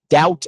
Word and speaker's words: doubt: Doubt and debt. There's no B sound.